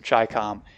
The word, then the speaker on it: Chicom: means Chinese Communists so chi-com is uh the way to pronounce this but I think